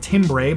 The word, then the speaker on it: timbre: So focusing on timbre, it's spelled timbre, but it's timbre, or harmonics in your track where it's making the edit point, right?